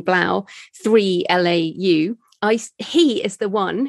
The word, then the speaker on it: 3LAU: I think you pronounce his name Blau, 3LAU.